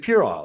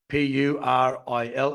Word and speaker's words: puerile: And I said, Purile. And she said, "Well, no, that's why you couldn't spell it. You couldn't find it. It's Puerile."